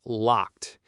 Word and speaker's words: locked: For example, the word 'locked'. It ends with a strong 't' sound: /lɒkt/. Many English learners struggle with that final 't' sound, but it is super important.